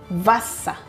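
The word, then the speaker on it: Wasser: V sounds like F while W sounds like V. Example, fog meaning bad. Foggle and vasa meaning water.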